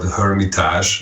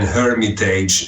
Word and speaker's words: Hermitage: But I prefer the French because it's an original word in French, and it just sounds a little bit more metal, and it sounds a little bit more raw than Hermitage. And I was afraid that people will make the mistake in saying the age of the hermit age.